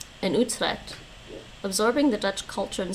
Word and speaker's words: Utrecht: The first is Utrecht.